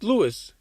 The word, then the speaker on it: Lewis: Actually, no, it's not Lois, it's Lewis. What the fuck? It's spelled like Lois.